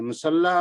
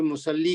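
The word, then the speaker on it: مصلى: मुसल्ला जो है ना उसका या हम प्रोनाउंस नहीं करेंगे, इसलिए कुछ हमारे साथी ना सालिहतुन फिल मुसल्ली कह देते हैं, तसल्ली ऐसे पढ़ते हैं, वो सही नहीं है। वो पढ़ेंगे सालिहतुन फिल मुसल्ला तसल्ली।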